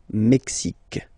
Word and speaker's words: Mexique: X, Mexique. It's really the X. Hein? Le Mexique. And then remember this Q-U-E, it's only K. Mexique.